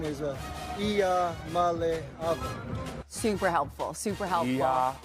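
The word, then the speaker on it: Iamaleava: malava and uh the the correct way to pronounce my last name is a Iya M super helpful super helpful M Trevor give me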